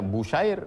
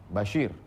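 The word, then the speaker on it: بشير: Abdillah Nu'man bin Basyir bifathil muwahadah Bagaimana cara membacanya kata dia bifathil muwahadah nah yang dimaksud bifathi baris atas yang dimaksud muwahadah titiknya satu karena bisa dibaca busyair bisa dibaca maka bifathi bifathi baris atas muwahadah Basyir Bukan busyair al-anshoriyu dia dari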